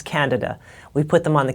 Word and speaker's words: candida: I said, did you know that sometimes people have candida, and it's actually misdiagnosed? Excuse me, the pronunciation is candida.